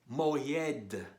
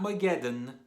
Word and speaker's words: Moghed: The Ayin sounds like a soft G. Moghed. Not Mageddon, Moghed.